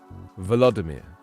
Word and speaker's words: Volodymyr: Volodymyr. I was doing Volodymyr. You've got to pronounce the V.